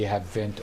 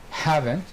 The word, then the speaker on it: haven't: not hasn't plus past because we have a pronunciation mistake in the domain in the field they say have vent or hasn't which is not correct haven't or hasn't thank you yes i